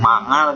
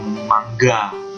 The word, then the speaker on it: manga: anggapnya sama ya dan manga juga bacanya bukan manga tapi mangga tapi udah kebiasaan manga